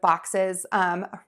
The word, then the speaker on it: boxes: So to say this word correctly, most people get the B sound, ba. Just open your mouth, the voice box is on. For that short O sound, think about making your mouth into a wide oval, ah. And when you get your lips and mouth into that position, it'll be easier for you to get the tip of your tongue into the bottom of your mouth and the back of